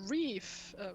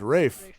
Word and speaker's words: Rafe: like to talk to reef reese reef i don't know who that is but rafe um yes he lives